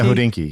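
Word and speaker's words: Hodinkee: You've done is it I read it all the time, but is it pronounced Hodeni? Hodenki. Hodeni.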